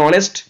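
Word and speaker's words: honest: একজন সৎ মানুষ ছিলেন এখানে অনেস্ট উচ্চারণটা হনেস্ট নয় অনেস্ট তাই বসলো এন নাম্বার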